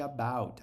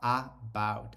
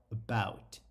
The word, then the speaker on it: about: Quero te dar uma dica de pronúncia de about. A gente não fala about, a gente fala about. É um A quase sumindo, ó.